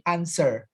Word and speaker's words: answer: Hati-hati, ucapan answer itu w-nya nggak diucapkan ya. Jadi answer. Oke. W-nya nggak kedengaran ya. W-nya itu melesat hilang. Jadi w-nya nggak boleh kedengaran.